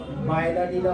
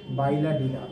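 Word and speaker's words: Bailadila: অনেক সময় আসে পরীক্ষায় বি এ আইলা বাইলাডিলা অনেকটাই তো স্পেলিং মানে প্রোনাউন্সিয়েশনটা বি এ আই এল এ ডি আই এল এ বাইলাডিলা বা বৈডোডিলা রেঞ্জ এটা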